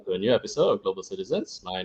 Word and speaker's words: CKtizens: Usually, people will thought that the K is CK or something along the line.